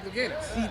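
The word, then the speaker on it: Louganis: Greg Luganis.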